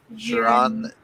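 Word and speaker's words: Xiran: The name is pronounced like Sharon J. Zhao.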